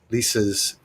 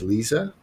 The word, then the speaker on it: Lisa: And I used to pronounce Lisa's first name as Lisa, but I just recently found out that it's actually pronounced Lisa.